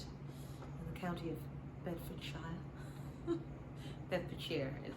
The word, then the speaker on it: Bedfordshire: Bedfordshire is how we pronounce it.